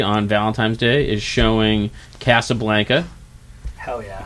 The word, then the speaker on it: Casablanca: Valentine's Day is showing cassablanca hell yeah it's pronounced Casablanca CA Blanca that's what